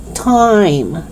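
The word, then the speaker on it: thyme: don't pronounce the h you don't pronounce it as instead you only pronounce it with t thailand thai time thomas okay so it's not thailand five time thomas no it's not like that it's just the letter t the sound of t okay let's do it again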